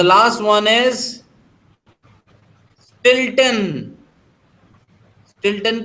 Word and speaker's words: Stilton: स्टिल्टन की spelling है STILTON, स्टिल्टन।